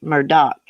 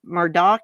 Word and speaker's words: Murdaugh: we read about steven it's pronounced murdoch i can verify the name is pronounced murdoch is denim or dawg